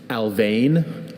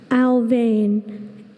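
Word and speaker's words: Alfvén: Are there any alternate pronunciations? I have a few. Alvane. Alfane. Alven. Alvin. Alvin.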